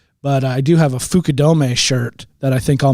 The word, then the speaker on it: Fukudome: I heard a funny story about this one time recently, but I do have a Fukudome shirt that I think I'll make you wear if it comes that I beat you the next time.